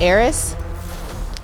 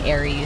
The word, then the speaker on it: Ares: Oh, it's Eris? He's biblically strong. Did I say it wrong, Sid? lightning I think fast, everyone's been saying Aries. Right. I think it's Eris.